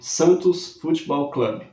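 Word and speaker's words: Santos Football Club: que sugeriu o nome Santos fotball Club e a pronúncia era assim mesmo porque o nome era escrito na língua inglesa diferente do que a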